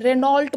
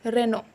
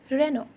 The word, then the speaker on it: Renault: Renault बोलते हैं. No, it's Renault. T is totally silent. It's Renault.